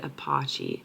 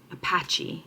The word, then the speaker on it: Apache: I thought it said apachi. Oh, I'm so embarrassed. I've been talking about this for so long and pronouncing wrong every time.